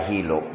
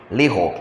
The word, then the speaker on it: lihok: The word still there does not mean hilom, walay hilok, walay paghilok. It means, is that the word? Am I saying it right? Hilom or walay paglihok. I flipped hilok. Lihok.